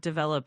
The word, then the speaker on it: develop: Yes, your pronunciation of develop is correct. The emphasis is on the second and let's continue.